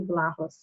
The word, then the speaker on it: Vlahos: And so that said, I'm delighted to be sharing the platform today with Tony Vlahos. Am I pronouncing the last name correctly?